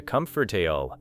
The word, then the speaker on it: comfortable: Learners may expect every syllable suggested by the spelling, but many speakers pronounce it closer to comfortable.